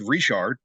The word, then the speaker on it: Richard: AAR you can have it's spelled Richard it's it's pronounced rishard so you know especially